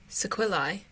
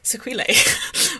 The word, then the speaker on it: sequelae: it horribly wrong it's she pronounces it sequelae and i've been pronouncing it sequila or some sorry i'm so sorry